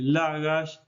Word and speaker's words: Lagash: Y después tenemos Shirburlak, que es Lagash, y lo vamos a escribir también con puntos entre las sílabas y en mayúscula.